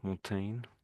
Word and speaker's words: Montaigne: So Michelle de Montine you say I think there Montine. Michelle de Montine. So there's no a there.